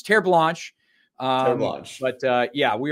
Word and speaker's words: Terres Blanches: year uh with my business partner I I pronounced it the American way terce blanches until he eventually had to pull me off